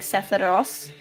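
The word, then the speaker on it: Sephiroth: I also learned the other day that like in Japanese they pronounce it like Sepharos instead of like Sepharoth.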